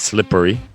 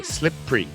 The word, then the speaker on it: slippery: now now the phonic says slippery but i know a lot of people especially north america skip that e and they just say slip free again as i